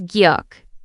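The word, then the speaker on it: 기역: The first one is gyuk. Gyuk sounds similar to K or G in English.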